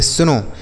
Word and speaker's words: snow: आगे लिखा है SNOW, इसे पढ़ेंगे सुनो। SNOW इसे पढ़ा जाएगा सुनो, मतलब होता है बच्चों बर्फ़।